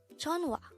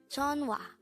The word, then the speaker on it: 전화: JEONHWA. JEONHWA. This is pronounced as a two-syllable word. The first syllable is Jeon, second syllable is Wa.